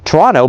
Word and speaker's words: Toronto: You say you're from Toronto, but you pronounce the second T, which no Canadian does.